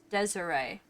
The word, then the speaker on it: Desiree: Desiree? What? That's the first time I've ever heard that name pronounced that way. And that's my sister's name. And it's Desiree. Is how I've most heard that pronounced.